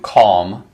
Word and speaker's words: calm: sure um let's do calm calm calm um it's spelled c-a-l-m but the l is silent and it